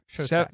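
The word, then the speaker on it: Szostak: Stephanie Shozak. Shozak. I think it's pronounced Shozak. Something like that. I have the pronunciation. Shostak.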